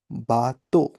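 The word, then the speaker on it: bateau: अब हम आगे जाए जैसे इ ए यू और ए यू। हम दिखने में ऐसा लगता है कि हम इसे इयू या औ ऐसा पढ़ें। But know the both are pronounced as ओ in English.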